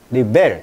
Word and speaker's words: rebel: 그러니까 명사는 강세가 앞에 오고요. 동사는 강세가 어디 온다? 뒤에 온다. 명전 동우 법칙. 그래서 레벨, 리벨 달라요.